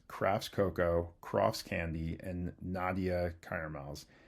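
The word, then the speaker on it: Nadja: Docman and Sons, Crafts, Cocoa, Crofts Candy, and Nadia Caramels. It's spelled with a J but pronounced like an I.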